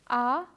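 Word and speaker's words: à: dalla and la baa as you can see the letter A is not pronounced differently because of the accent the pronunciation remains the same ah the axon graph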